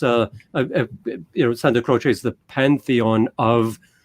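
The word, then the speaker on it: Santa Croce: the family burial is at the church of Santa Crochce, I think is how it's pronounced.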